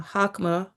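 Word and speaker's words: Chokmah: And then uh hakma or I could spell that as well.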